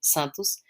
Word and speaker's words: Santos: Hence why I've been calling him George Santos, because Santos, like how you would pronounce it in Brazilian Portuguese, would be Santos, George Santos.